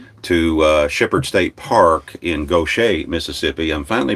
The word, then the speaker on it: Gautier: mississippi gulf coast to shepherd state park in gautier mississippi i'm finally pronouncing that correctly now when we went on